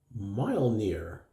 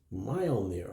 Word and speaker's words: Mjölnir: Pete over at HCC this guy right here mile near that's how it's pronounced mile near I looked that up and mile near draws